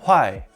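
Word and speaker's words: 坏: the soil is bad this character is pronounced huai and means bad or go bad it is used in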